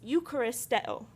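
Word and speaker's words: εὐχαριστέω: And so the Greek word is Eucharisteo.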